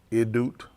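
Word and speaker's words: עדות: You spell it E-D-U-T. A, the A is the So they said make the E sound. A-Y-D, they'll put O-O-T. The double O makes the oo sound.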